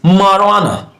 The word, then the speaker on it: marijuana: So we pronounce this marijuana, marijuana, marijuana, marijuana, marijuana.